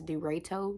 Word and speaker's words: Deraito: playpen together i believe the pronunciation is dorito d-e-r-a-i-t-o this is the one